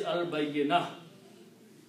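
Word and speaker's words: البينة: But when you stop, then this ta always pronounced as ha when you stop. So what is al-bayyinah? Ha sound has to come out.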